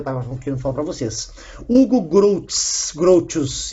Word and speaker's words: Hugo Grotius: Hugo Grotius, é assim que se pronuncia essa porcaria.